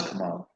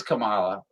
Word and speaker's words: Kamala: say come on kamala you thought it was come on well it is kamala but she it's like